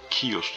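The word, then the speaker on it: chaos: Kelimenin yazılışı Cihaos diye yazılıyor. Kios diye okunuyor.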